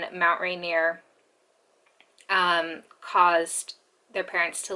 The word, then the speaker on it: Rainier: how it's spelled but she kept pronouncing mount rainier as renier and when i first